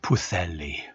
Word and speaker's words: Pwllheli: So it's pronounced Pwllheli.